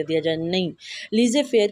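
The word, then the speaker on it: laissez-faire: फेर की ठीक है कुछ लोग इसको लीज फेर मतलब इस तरह से रीड आउट करते हैं लेकिन इसका असल प्रनंसीएशन है लीजिए फेर ठीक है तो कहते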